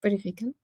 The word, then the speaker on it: purifican: sí, purifican, puede ser. Purifican, estaba poniendo acento en el lugar equivocado.